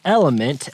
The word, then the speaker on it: LMNT: you to consume so element l m NT but pronounced element is an electrolyte drink